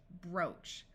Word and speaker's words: brooch: good w o woof there are a few words where oo has the long o sound however this is not very common D or door F floor P or po this CH will say Chach brooch like I said the